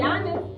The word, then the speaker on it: Giannis: Giannis.